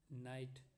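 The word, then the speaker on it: knight: तो टॉक में जब हम बोलेंगे तो L का उच्चारण नहीं हो रहा है, वॉक में भी नहीं हो रहा है, नाइट में भी नहीं हो रहा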